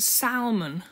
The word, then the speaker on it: salmon: are you an animal here we pronounce it salmon why is there an ellen seven so the english language bothers me to say the least here's an example salmon why the l in salmon so i think we